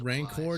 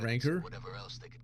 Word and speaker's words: rancor: the ensuing Um Kyle, it's pronounced rancor, not ranker. Uh get it right.